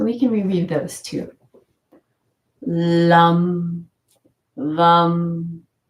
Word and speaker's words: Lam: And for educational purposes, the sound seeds of each chakra, Lam, Vam, Ram, Yam, Om, and then this is silent. Lam for the root chakra.